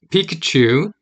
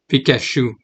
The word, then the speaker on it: Pikachu: there's the T says to pronounce the T before the CH you U but in French you would just say Pikachu if you didn't know